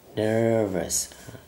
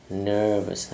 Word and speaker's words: nervous: Hay là chữ này, chữ này là đọc là nervous, hay là no American English, tiếng Anh của người Mỹ thì nervous, nervous nó dài hơn chút xíu, nervous.